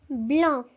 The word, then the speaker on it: blanc: What about the C at the end? Do you pronounce it? Well, you do not pronounce it. We do not pronounce the C, so we do not say blanc.